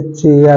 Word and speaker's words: chair: जैसे चेयर होता है, ठीक है, जैसे चेयर, CHAIR, चेयर होता है, तो वहां पर हमारा एच साइलेंट नहीं है।